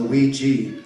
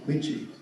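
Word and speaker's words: 危机: It's pronounced the Wei Ji. Wei meaning danger and Ji meaning opportunity. Wei Ji.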